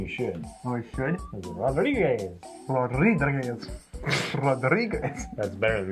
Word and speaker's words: Rodriguez: That's right, which was written by Joe Hill and illustrated by Gabriel Rodriguez. Rodriguez. Woohoo! I can't. You should roll your R's.